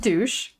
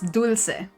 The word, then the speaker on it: dulce: Not douche, it's dulce.